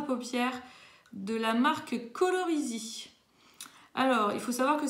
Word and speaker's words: Colorisi: Alors, Colorisy, pour ceux qui veulent l'orthographe, c'est C-O-L-O-R-I-S-I, donc comme ça se prononce.